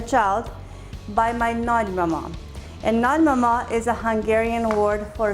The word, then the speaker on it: nagymama: And I know when you pronounce it nagymama, it sounds like an N-A-D, but it's not. It's Nagi Mama, which is made for short nagymama.